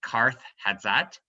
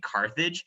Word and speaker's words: Carthage: Now, Carthage in Phoenician actually is pronounced Karth Hatzat, which is very loosely translated. We've anglicized it and turned it into the name Carthage.